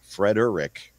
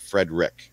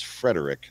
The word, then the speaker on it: Frederick: his last name because it's spelled exactly like my middle name fred urrick not fred rick so just in case anybody's wondering or keeping notes my middle name is frederick not fred rick but